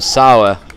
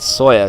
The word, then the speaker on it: Sauer: It's Michael Sauer and not Sawyer, so that's all on me there, but bring you the correct way to say it in a bit.